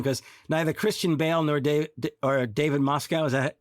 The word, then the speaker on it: Moscow: He must have been a little frustrated in this one because neither Christian Bale nor David Moscow, is that how you say it?